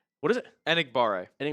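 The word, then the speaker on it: Enagbare: Enigbar. Eniggare.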